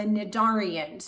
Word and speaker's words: Cnidaria: be discussing are the nadarians now if you thought that c was supposed to be pronounced it's actually not it's actually silent and so the correct